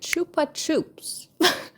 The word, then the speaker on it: Chupa Chups: it without an accent how to pronounce it not in the way Russians do it Chupa chops that's the sound of